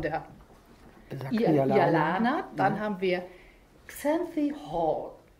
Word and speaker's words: Xanthi Hall: Dann haben wir Xanthi Hall. Das ist, so spricht man es richtig aus.